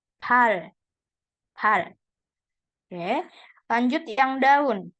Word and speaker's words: 발: Nah, kaki real kalau di bawah dibaca L. Pal.